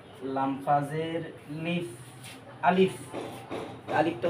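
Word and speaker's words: ألف: চলে যাই এই যে আলিফটা দেখতেছেন না এই যে আলিফটা আলিফটা উচ্চারণ হবে আপনার এখান থেকে আ মানে এই যে গলার শুরু থেকে আ দিয়ে শুরু হবে আ এই যে দেখেন আমি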